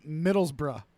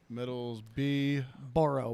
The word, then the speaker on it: Middlesbrough: be Stoke like stoker fire all right versus Middlesbrough which is m-i-d-d-l-e-s b-o-r-o-u-g-h ope if you need me to respell that I can Metals B borrow b-o-r-o-u-g-h oh got it uh Middlesbrough is a